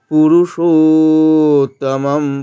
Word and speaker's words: পুরুষোত্তম: এর মত উচ্চারণ হবে পুরুষোত্তম পুরুষ পুরো হ্রস্ব কিন্তু মধ্যস্টা দীর্ঘ তাই দীর্ঘ করলাম পুরুষোত্তম শেষের মা টা অর্ধেক স্তুূব নাম স্তুূবান স্তুূব